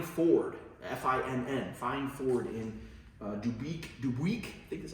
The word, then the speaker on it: Dubuque: This one was sold new at Fine Ford, F-I-N-N, Fine Ford in Dubuque, I think that's how they pronounce it, Iowa, to its original owner, who was based in Wisconsin.